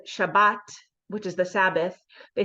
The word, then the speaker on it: Shabbat: so the ashkanazi Jews the Eastern European Jews pronounced it as an S sound so instead of saying Shabbat which is the Sabbath they say shabus with an S sound